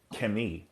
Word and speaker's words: Kemet: So they're saying they see the KMT and they're saying Kemet instead of saying Kemi. That's Coptic. The Coptic is Kemi.